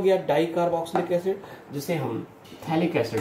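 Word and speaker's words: phthalic: ये हो गया डाइकार्बोक्सिलिक एसिड, जिसे हम थैलिक एसिड भी कह सकते हैं। T साइलेंट होती है, थैलिक एसिड के नाम से भी जानते हैं।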